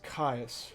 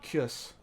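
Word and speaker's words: Kyuss: Now, it may not be that bad for a dragon, but like a spawn, some people know him as Caius or Kiss, There's different pronunciations for it, but it's basically, rather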